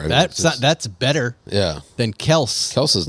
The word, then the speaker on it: Kelce: saw two videos where he said it's Kels, and that he allows people to Maybe. call it Kelce.